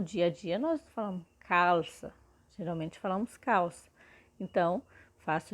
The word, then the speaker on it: calça: Mas nós temos aqui também ouvido, depois temos calça, e pode ver que tudo que eu estou pronunciando parece ser a letra U, mas, por exemplo, ouvido é com U mesmo, mas calça já é calça, é com L, só